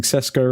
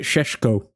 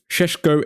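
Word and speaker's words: Šeško: Admin, you're pronouncing Sesko wrong. Oh, there's always one. Go on, tell me. Is it Sheshko?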